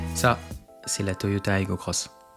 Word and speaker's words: Aygo X: Ça, c'est la Toyota Aygo Cross. Elle s'écrit X, mais se prononce Cross.